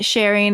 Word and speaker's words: Shereen: than I do right well Shireen is like what the Americans say and then sharing is what Sharia right and I am